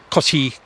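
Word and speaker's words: Cotte: Can you spell that for us, please? C O T T E Cotty cars.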